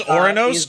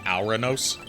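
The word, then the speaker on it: Ouranos: I believe it's Oranos, just due to how I've heard Greek stuff pronounced. I don't believe it would be Auranos.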